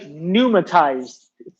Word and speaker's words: pneumatized: This next one is called pneumatized. The P is silent.